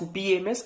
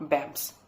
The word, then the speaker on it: BAMS: and also the fact it is pronounced as BMS and not bamps yes that should be